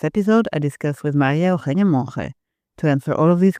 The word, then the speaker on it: Monge: Softer. The G sounds softer. It's Maria Mon.